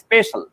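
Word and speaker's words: spatial: ও space relation, এটা space relation নামেই নামটা দেওয়া আছে বিসিএস এর ম্যাটেরিয়ালে, কিন্তু আসলে ভালো নামটা হলো অর্থাৎ স্পেস থেকে স্পেশাল, উচ্চারণ হবে স্পেশাল।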